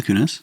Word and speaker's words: Kunis: Mila, or some people say, how do they pronounce her name? Mila Kunis? Kunis? It's Mila Kunis.